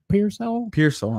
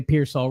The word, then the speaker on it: Pearsall: Pearsall. That's what okay, we'll say Pearsall.